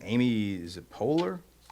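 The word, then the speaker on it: Poehler: I don't I've seen this woman before, but I I don't know how to pronounce her name. Amy, is it Polar? Yes. Amy Polar.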